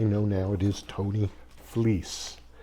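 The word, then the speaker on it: Fleecs: And if you're saying F L E Cs, I didn't think that was Fleece.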